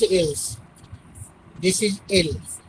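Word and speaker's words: elles: But I told you already, in French, last letter generally we cannot pronounce. So we cannot pronounce else. This is L.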